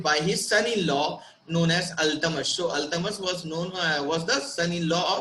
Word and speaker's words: Iltutmish: And it is written, his spelling is like ILTUTMISH, but what we have to pronunciate it like Ultamas.